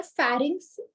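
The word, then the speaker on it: pharynx: हाउ to remember फेरिंग्स, एफ, फेरिंग्स F, food. Actually P से है बट उसका pronounce हम फ करते हैं ना, तो फेरिंग्स फूड, फूड डाइजेस्टिव.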